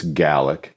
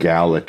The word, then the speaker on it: Gaelic: Actually, I believe it's Gaelic. Gaelic, I think, is how you say it in Ireland. In Ireland. Gaelic is what you say in Scotland.